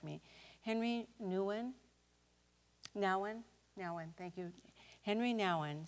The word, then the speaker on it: Nouwen: Nouwen, thank you.